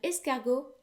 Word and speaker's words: escargot: had uh escargot and escago actually ends in the letter t but that letter is silent very often in french